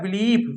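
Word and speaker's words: belief: आई ई आए तो हम आई ई को इ पढ़ते हैं।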